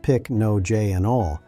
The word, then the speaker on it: Pycnogenol: Pycnogenol, pronounced pic-no-j-anol, is an extract derived from the bark of the French maritime pine tree.